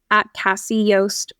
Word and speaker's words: Casi Yost: that my Instagram is Cassie Yos photo but my name is spelled weird it's just C Ai and my last name is y s t so if you know